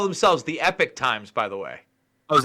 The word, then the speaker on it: Epoch Times: If you they call themselves the Epic Times, by the way. Oh, is that what it's actually pronounced?